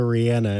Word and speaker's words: Rihanna: are you laughing at you keep calling her Rihanna and it's Rihanna are you sure I swear to God